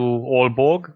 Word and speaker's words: Aalborg: has a weird name it's pronounced something close to aalborg but it's written with 2 a's at the start at the end of